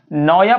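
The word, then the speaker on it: Naoya: नाम है शिगा है ना नायो क्या देखिए स्पेलिंग मैंने है ना एन ए ओ वाई ए नया पर हो चाहिए लेकिन ये जापनीज राइटर है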